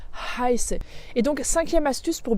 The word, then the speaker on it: heiße: Donc quand tu dis ich heiße, c'est pas ich scheiße parce que là tu es en train de dire un gros mot, ou bien ich habe, mais ich habe, ich habe.